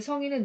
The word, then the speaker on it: 성인: 자, 이 성인은 그냥 나이가 들면 자연스럽게 되는 성인이지만 뒤에 성인은 노력해야지 되고 인품이 돼야지 되는 거잖아요. 그래서 뒤에 성인이 더 깁니다. 성인이 더 길다. 그래서 이렇게 길게 발음합니다.